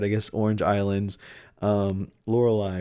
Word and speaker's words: Lorelei: another tops card i guess orange islands um lorelei right that's how you pronounce it from the elite four this one